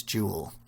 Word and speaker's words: duel: So, listen, I want to tell you the story of the Wizard's Duel. D-U-E-L. Of course, if you're in England, you'd be saying Wizard's Jewel.